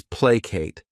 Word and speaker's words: placate: The next verb is placate. This word has 2 syllables, and the stress is on that first syllable. Placate.